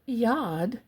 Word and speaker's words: yad: So, the word yad, y a d is made of two letters.